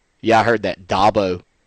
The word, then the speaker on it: Dabo: yeah I heard that Dabo like a dirt dobber Dabo Swinney two guys in